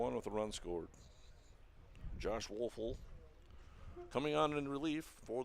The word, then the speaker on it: Woeful: he'll be relieved by one Josh wolfel or spelled w-o-e-f-u-l Josh wolfel for me until somebody corrects us yeah we did get the pronunciations in there yeah I checked on it just to make sure that that was a correct pronunciation a couple of different